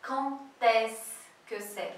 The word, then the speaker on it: quand est-ce que c'est: Quand est-ce que c'est? E aí, atenção, somente com a pronúncia que, quando, que você tem que falar quand est-ce que c'est. Fica um sonzinho de T, tá?